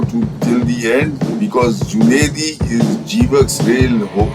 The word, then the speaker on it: Junedi: on top of it evok is a mispronunciation of junaidi the real name is junaidi junaidi was a vet